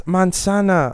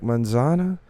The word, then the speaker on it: manzana: And they're like, "Oh, it's mansana." I'm like, "Manzana?"